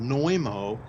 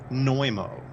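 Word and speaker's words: Znojmo: Republic that's incredible also it's called noimo and I'll spell it for you because it's kind of got an unusual spelling you spell it Z and O J as in Jacob m o neumo and the catacombs supposedly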